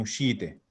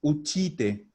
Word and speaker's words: uscite: No es uchite ni uchiti. Es uscite, uscite. Acuérdense que la SC se arrastra, es una sh, y la vamos a mantener además.